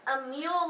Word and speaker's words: Emil: Emil, like Aemeal.